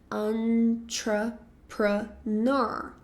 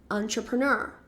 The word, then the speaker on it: entrepreneur: Porque ela vem do francês. Então, a forma que a gente vai pronunciá-la é um pouco diferente. A gente sempre pensa nela como um entra en entrepreneur, alguma coisa assim, né? Mas na verdade esse som de an vai ser um an entrepreneur. Ok? Então esse a sílaba tônica, ela vai ser no final entrepreneur.